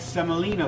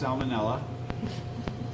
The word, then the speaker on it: semolina: 10 ounces of semolina flour. This is a hard winter wheat. Wonderful. It's not pronounced salmonella. That would be awful.